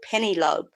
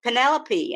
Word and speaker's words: Penelope: time I can remember one book about her little girl called penny lobe because I didn't know how to pronounce her name properly and it wasn't until I went to boarding school and there was a young girl she comes up to me and says hello I'm penny Penelope and I went oh